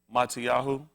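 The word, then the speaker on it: Matityahu: Matiahu five and one. They call it Matthew. Anything to make a white man sound better. The actual pronunciation name is mati which will be the gift of alohim.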